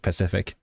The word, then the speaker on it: Pacific: But I just thought like the name made me like feel right at home because of Cathay Pacific, not specific, Pacific.